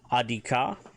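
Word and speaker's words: ad'ika: Little one, son or daughter, Adika, AD Betten, IKA, Adika.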